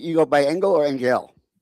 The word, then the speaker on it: Engell: Is it Angel or you go by Angel or Angel? Oh, my last name is pronounced Angel. It's a German last name.